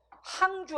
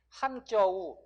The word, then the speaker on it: 항저우: 그래서 항주 아니고 뭐라고 해야 돼요? 항저우.